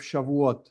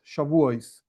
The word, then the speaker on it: Shavuot: First of all, what is this holiday of Shavuot Shavuos? My Ashkenazic pronunciation and so on makes it a little bit different, but whatever, it's the same same idea.